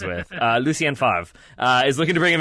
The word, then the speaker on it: Favre: That's the Ben Stiller something about Mary pronunciation. I think it's like Favre is what Ben Stiller goes with. Lucien Favre is looking to bring